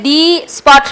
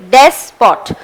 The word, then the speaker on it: despot: So you shouldn't say D spot, no, it's des spot. So des and pot.